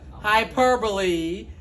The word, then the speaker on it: hyperbole: we've known for a fact that it's what hyperbole Hyperbole and I purple isn't what total what